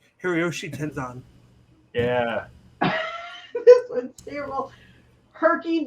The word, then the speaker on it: Hiroyoshi Tenzan: Blue Hiro Yoshi Tenzin. Hiroyoshi Tenzan.